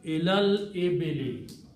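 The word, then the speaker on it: إلى الإبل: So the word becomes ilal ibili. You read together. You do not pronounce these alifs in between. It will be ilal ibili.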